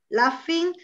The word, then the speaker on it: laughing: Laughing, la GH in questo caso si pronuncia come se fosse una F e la U non si sente, laughing.